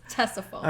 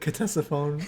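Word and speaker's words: Ctesiphon: think we did yeah Tessa phone it's spelled with a c uh a little bit confusing but I said saxophone last one um looked it up it's testify I've said Contessa phone at times but no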